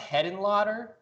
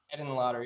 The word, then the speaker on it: Henenlotter: Is it pronounced Hedenlotter? Is that Frank Henenlotter? Yes, sir. Henenlotter.